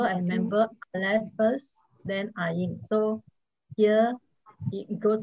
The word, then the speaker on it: Ain: And what are the 2 silent letters that you have learned? The very first one is Aleph. That's right. And towards the end, you have one more. Ain. That's right. Ain.